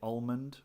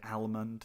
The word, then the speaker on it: almond: of the word almond I would say almond but I would definitely say the L sound some people say almond that's fine and then I had